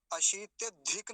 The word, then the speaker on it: अत्यधिक: तो आसान हो जाएगा धिक इसको धिक नहीं बोलेंगे जैसा पीछे भी आया था ना ये अत्यधिक अत्य धिक नहीं बोलेंगे धिक ककार पूरा है ना अगर हलंत होता तो धिक बोल देते अभी हलंत नहीं है तो क्या बोलेंगे अत्यधिक क और ऐसे ही ये